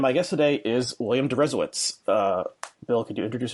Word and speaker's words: Deresiewicz: r.a coadway and my guest today is william derezowitz uh bill could you introduce yourself first of